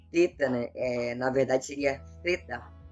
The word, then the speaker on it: theta: Na verdade seria theta, imprensando a língua entre os dentes, como na palavra thing, em inglês.